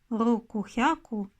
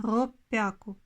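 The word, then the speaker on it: ろっぴゃく: Если будем говорить 600, вместо рукухяку происходит в японском языке изменение этого слова. И оно изменилось на роппяку.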